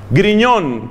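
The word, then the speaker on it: Grignion: Entonces hay un santo que quizá usted se puede hacer amigo de él, que se llama Luis María Griñón, que se escribe Grignón, con GN. Luis María Griñón de Montfort.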